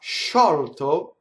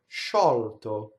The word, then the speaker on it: sciolto: this case, you'll get the double consonant of sciolto, sciolto, which means loosen in Italian. Sciolto. Notice the L sings into the T.